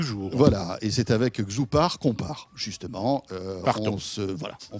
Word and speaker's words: X2OPAR: Xoupar, ça s'écrit X2OPAR. C'est made in France.